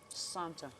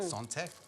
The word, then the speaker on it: santé: Santa. Did I say it right? Santé.